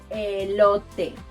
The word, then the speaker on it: elote: To pronounce it correctly, think of the word elote.